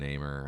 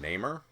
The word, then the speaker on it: Namor: Defender stuff with Immortal Hulk and Namor. I'm sitting all that stuff out. Did you call him Namor?